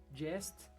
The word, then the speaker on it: jest: npm install --save jest espaço supertest. Lembrando que tanto jest quanto supertest o T é mudo, como vocês podem ver aí na tela.